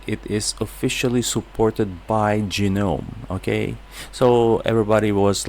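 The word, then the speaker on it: GNOME: was like asking me why is it genome when you pronounce not gome because actually genome when they launched by ganu it was genome so it was like that ever since they emphasize the letter G so basically instead of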